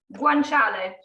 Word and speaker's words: guanciale: How do you pronounce that again? Guanciale.